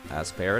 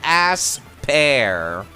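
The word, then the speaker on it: Aspear: not terribly useful actually as per it is I know I'm pronouncing it ass pair I am aware of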